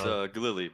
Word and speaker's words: Ghalili: Is that how you say it? It's Ghalili. Ghalili, okay.